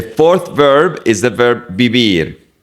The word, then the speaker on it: vivir: The fourth verb is the verb vivir. Remember that the V in Spanish is pronounced like a B. We don't say V. It's B.